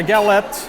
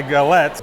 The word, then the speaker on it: galettes: so for my uh how do you say gallop so for my gallup my all right so for my galettes buckwheat crepe i went